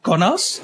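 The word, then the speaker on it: Kaunas: Uh below started in Konas. Is that the right pronunciation?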